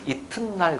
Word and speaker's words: 이튿날: 이틀날이라고 발음되면 당연히 이렇게 표기하면 되지. 그잖아. 그 사람들이 이틀날이라고 발음을 해, 안 해? 그 이튿날 그러거든. 이튿날 그러거든. 오? 이틀날이 아니고 튼날 그러네?